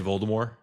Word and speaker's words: Voldemort: Um stupid Americans that she made, but they say Voldemort. They don't say the T.